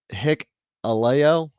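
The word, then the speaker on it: Hikuleo: same thing okay I didn't know that it's pronounced hick Alo okay hick Alo hicko got it hicko h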